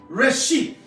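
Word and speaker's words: רֵאשִׁית: En el principio, esta frase, en el principio dice, en el Strong, la concordancia, usted apúntela, Hebreo 72:25, y se pronuncia Reshit. Estamos hablando hebreo ahora. Reshit.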